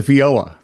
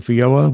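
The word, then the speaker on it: feijoa: The fioa. Fo fioa. Fiola. Spell it.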